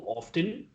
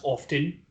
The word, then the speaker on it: often: And this is something which betas don't do often. And yes, it is pronounced often, not often.